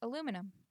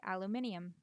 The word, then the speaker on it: aluminum: there in the middle I say aluminum some people say aluminium which is an addition of a non-existent syllable I say envelope I've